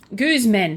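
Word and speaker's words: Guzmán: to do okay so Goose men that's how you say his name Guzman so um The Deadly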